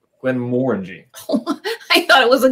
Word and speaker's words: Glenmorangie: So how do you pronounce it? Glenmorangie. Glenmorangie.